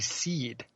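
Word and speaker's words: Cid: trapped below and thus Sid is supposed to be seed which I don't like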